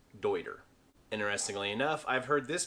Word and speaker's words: Deuter: this german pack manufacturer almost universally gets called duder but it is actually pronounced deuter interestingly enough i've heard this brand called katahdin